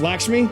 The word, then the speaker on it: Lakshmi: I said it right. It's Lakshmi. Okay.